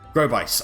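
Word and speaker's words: Grobyc: manor now this character i am actually going to pronounce as um grow bite ah grow by sorry grow bites and the reason why i'm going to pronounce it like that is because growbox backwoods is cyborg in case you haven't figured it out already um spoiler alert i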